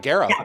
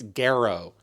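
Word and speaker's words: Gero: And and I think um you know there was talk too um Martin Garrow talked about uh am I pronouncing his last name right? Yeah, you got it. Garrow.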